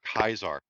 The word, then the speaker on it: Caesar: It's like saying Caesar or Kaiser. Like it's legit the same thing. Like Kaiser's the correct way to say it, but everyone just says Caesar.